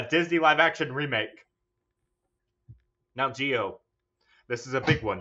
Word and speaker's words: Gio: Now, Gio, this is a big one. This is for all the bucks. Wait, I'm sorry. I forgot your name isn't Gio. It's Grio. Grio. No, it's Gio.